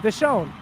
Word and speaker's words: Visone: Am I pronouncing that right? Is it Visone? Visone.